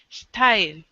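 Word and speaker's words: ST★R1: Style. Star. Well, it's written as like star, like STAR, and then the number one, but it's pronounced as style.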